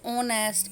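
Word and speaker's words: honest: Some word start with H but there H remain silent and they produced vowel sound. कुछ words ऐसे होते हैं जो एच से शुरू होते हैं लेकिन उनका एच क्या होता है? साइलेंट होता है. और उनकी साउंड कैसे आती है? वोवल की साउंड आती है.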